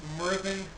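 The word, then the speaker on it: Myrddin: it's pronounced mvin the DZ is pronounced th well part of my uh name for the society for creative anacon um been using it for 30 some years um Merin you'll find me on Facebook on Twitter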